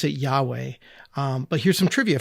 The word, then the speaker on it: Yahweh: Uh, the the word that God gives Moses is is four letters long and we pronounce it Yahweh.